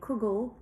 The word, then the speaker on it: kugel: but people who say kugel mean usually the noodle version and people who say Kegel like the Hasidic pronunciation usually mean the potato